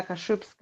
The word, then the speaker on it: Kaszubska: so my Facebook is like my name Elena kashupska I know it's it's struggle for not Polish